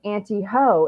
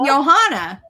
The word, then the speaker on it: Johanna: wrong because it yeah because in German it's Johanna it's what you know it's Y no it's Johanna and I was like